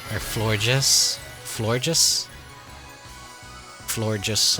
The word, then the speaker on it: Florges: Florges, like gorgeous, flower, gorgeous, Florges.